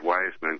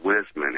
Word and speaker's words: Wiseman: pronunciation of his name he says it's where's Ben not wise man if you're going to say it say it right it's Wisman and he was just